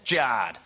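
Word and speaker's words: Jarred: Jared is spelled J-A-R-R-E-D. Thanks, Mum and Dad, that's Jard.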